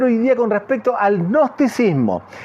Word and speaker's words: gnosticismo: la definición de gnosticismo que se escribe con g gnosticismo gnosticismo se pronuncia así No es cierto el